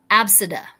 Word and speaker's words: Abcde: had a student who the name was spelled ABCDE and pronounced Absida.